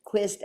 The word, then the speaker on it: Quist: Quist, I said, how do you say your name? She's like, Quist as in twist.